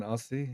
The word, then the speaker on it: Aussie: That's quite a common American pronunciation, Aussie. Yeah, it's the Aussie with the Z. A U. That's why. A U S S I E instead of O Z Z I E.